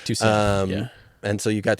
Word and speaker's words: Tucson: Am I pronouncing that right? Yeah, that's right. Tucson.